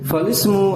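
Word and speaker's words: فالاسم: Misalkan, yuk kita coba falismul mausufu. Nah, dibacanya falismu, bukan fal ismu, salah. Karena ini hamzah wasal, falismul mausufu gitu ya.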